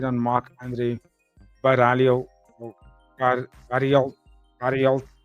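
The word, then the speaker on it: Barriault: Baralt, that's how you say it.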